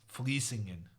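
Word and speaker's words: Vlissingen: kid, in this place, Vliesingen. And as a kid, I did not have a lot of sympathy for someone writing a V and saying an F.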